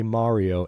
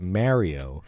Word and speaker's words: Mario: in apple Vision Pro I was very careful just then to say Mario and not Mario as I know it to be pronounced because I'm from New York but anyway I'm watching